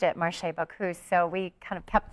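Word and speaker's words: Marché Bacchus: started by a French couple so they always pronounced it maray bakus so we kind of kept the French tradition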